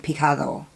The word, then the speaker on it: picado: just talking yesterday about how you pronounce the D in Spanish is the it's kind of it's it's a strange pronunciation it's like picado picado I'm seeing a little